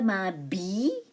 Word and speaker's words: m'habille: Avant d'aller au travail, the L is silent, it becomes Y. Je m'habille. Now, I say Y, not L. The L is silent.